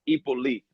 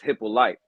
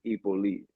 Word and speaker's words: Hyppolite: The last name is the correct way to pronounce it is Hyppolite. But my whole life I've been saying it wrong too, so no pressure. Because here in the American way of saying it is Hyppolite.